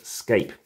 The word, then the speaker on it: SCAPE: have all these different cards have letters s-c-a-p-e like the word escape but make sure we pronounce it escape and it is capitalized